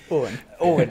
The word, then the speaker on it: Eoin: In Irish, Popery, his name it's is spelled like was it something like Eoin or something? Eoin. It was nothing like Owen at all, like not a bit, and his surname was